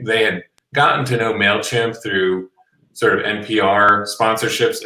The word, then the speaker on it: Mailchimp: people that was interviewed mispronounced mailchimp as male kemp oh right and and